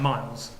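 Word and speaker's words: Myles: Miles. Miles. Same as with an M-Y-L-E-S.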